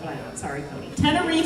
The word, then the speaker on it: Tenerife: Tenerife. Tenerife. Tenerife. Oh, Tenerife C. Okay, you guys all know that, but I don't. Sorry, Cody. Tenerife C by Ed Sheeran.